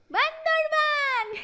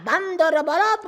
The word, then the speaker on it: বান্দরবান: হ্যাঁ মনে পড়েছে এই সুন্দর পাহাড়ি জায়গার নাম বান্দরবান আমি বান্দা ঠিকই জানিতাম। এই জায়গার নাম বান্দরবান। উচ্চারণ ভুল করিয়া বান্দরবত বলি আছি।